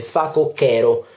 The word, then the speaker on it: facocero: facocero non un facocero in realtà la pronuncia ancora più corretta sarebbe fatto che ero mettendoci una h tra